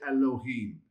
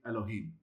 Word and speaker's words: Elohim: You would never say Elohim. You'd say Elohim. Why is it Elohim? Why is it so short in that first vowel? Because of the schwa. It just shortens the pronunciation when it's at the beginning of a word.